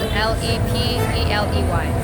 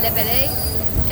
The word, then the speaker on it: Lepeley: Last name is spelled L-E-P-E-L-E-Y. How do you pronounce Well, it's a French last name, but in Spanish, I'm Latin American. We pronounce it Lepeley. For the gringos, we say Lepeley.